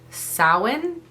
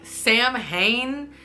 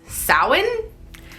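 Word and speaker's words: Samhain: Halloween started as an ancient Celtic tradition called sowin Salin it's it reads like Sam Hayne but it's pronounced Salin um so this was 2 000 years ago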